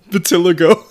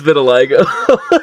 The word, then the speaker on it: vitiligo: You have some funny ways of pronouncing I want to hear this. Batiligo. Yep, there it is. Is Is it vitiligo? It's vitiligo.